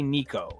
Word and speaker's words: Nico: my name really matters it has to be Nico like there's kind of like a fake h on the end of the O but it's very fake um this idea that